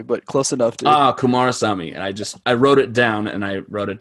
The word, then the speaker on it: Kumarasamy: see a name without with more than two syllables i i instantly tense up is it uh kumasami kumar sami but close enough ah kumarasamy i just i wrote it down and i